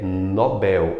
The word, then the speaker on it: Nobel: Eu tenho também Nobel mais forte é o Bel, e não ele ganhou o prêmio Nobel, é Nobel, o prêmio Nobel.